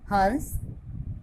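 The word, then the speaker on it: हँस: हंस, इसका अर्थ है हंसना और इसमें चंद्र बिंदु का के प्रयोग में नाक व मुंह दोनों का ही प्रयोग किया जा रहा है।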